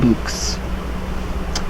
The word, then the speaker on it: LVX: the words they spell which is pronounced to rhyme with the word boots so and be like lvx Luc's the sign of Osiris